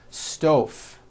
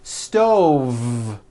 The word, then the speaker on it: stove: I cooked dinner on a hot stove. Was that correct? No. I should have said stove. Stove. I cooked dinner on a hot stove with a voiced V.